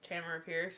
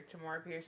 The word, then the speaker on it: Tamora Pierce: One of my favorite authors, Tamara Pierce or Tamora Pierce, depending how you pronounce it.